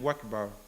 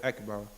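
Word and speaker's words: أكبر: So then he might find that over time he's saying Wakbar instead of Akbar. He needs to say Allahu Akbar. The Hamza is apparent.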